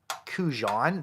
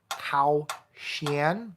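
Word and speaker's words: 口弦: me playing this, but I refer to this as a Kujan. That is not correct. It is Kaoxian, and that's as close as I can pronounce to it.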